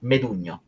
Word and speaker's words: Medugno: And so, before I go, my name is Medugno. So, if some people want to pronounce that in a correct way, it's like lasagna.